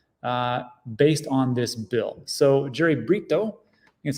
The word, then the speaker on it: Brito: So Jerry Brito, that's how you say his name, he is